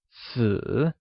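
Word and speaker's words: 死: sounds similar to the Mandarin word for death, si.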